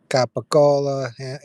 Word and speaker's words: capicola: Well, the D sounds like an R, just like if you say capicola, the ham. The C kind of sounds like a G.